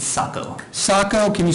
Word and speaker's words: Sacco: Is it Mr. Sago? Am I pronouncing that correctly? Sacco. I'm sorry? It's Sacco.